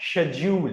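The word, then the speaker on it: schedule: के साउंड से और ब्रिटिश इंग्लिश में इसको प्रोनाउंस किया जाता है शेड्यूल डूल और ये डल नहीं पढ़ा था।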